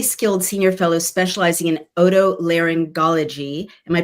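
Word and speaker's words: otolaryngology: Uh, she's a highly skilled senior fellow specializing in odto langology. Am I pronouncing that correctly?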